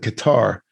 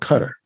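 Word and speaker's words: Qatar: is is a capital cutter i used to pronounce that q-a-t-a-r i call it guitar but it's actually called cutter that's the proper pronunciation all right so what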